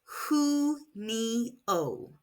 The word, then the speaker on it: junio: Elberano includes pronounced hio. In Spanish, the letter J is pronounced like an English H and the U makes an oo sound.